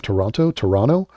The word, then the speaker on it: Toronto: And apparently you're not supposed to pronounce the second T of Toronto.